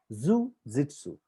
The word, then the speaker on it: jujitsu: Now let me point out, guys, jujitsu, that is the pronunciation, jujitsu.